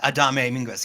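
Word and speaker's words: Adame Mínguez: Victor Minguez? Yeah, Adame Minguez.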